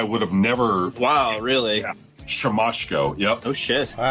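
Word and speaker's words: Siemaszko: asks him to say his name and it's sham masko which I would have never wow really shamco yep oh wow well see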